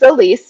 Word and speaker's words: Elise: like how are you so is it l oh one syllable yes well um my name is elise nice to meet you